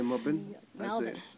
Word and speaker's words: Melbourne: melin I say Melbourne Melbourne where what how do you say how do you say Melbourne Melbourne you're forgetting the r there's a r in there yeah but we don't pronounce that you say melin but